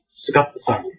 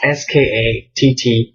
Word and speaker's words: Skattosan: So it's Skatto dash, so hyphen dash, SAN. Skattosan. So I guess the U is silent. I spell it phonetically. Whenever I go to spell it, obviously in words or letters, so that people, if they read it, they don't mispronounce it. Like most Americans would probably see the U and be like su or sa, Skattosan. Well, so it's Skattosan, Skattosan.